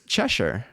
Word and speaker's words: Cheshire: Let me go to the British pronunciation. Cheshire. All right, Cheshire it is.